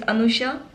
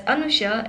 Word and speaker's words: Anusha: My real name is Anusha. It's pronounced as Anusha and the YouTube name is not my real name.